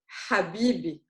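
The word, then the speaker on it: حبيبي: So it's the Ha of the word Habibi.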